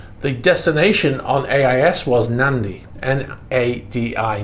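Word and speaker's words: Nadi: in previous videos, the destination on AIS was Nandi, N-A-D-I, Nandi, right, on this island in Fiji.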